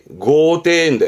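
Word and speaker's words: 豪邸: 발음은 고대인데 호저가 뭐냐면 고가나 테타크.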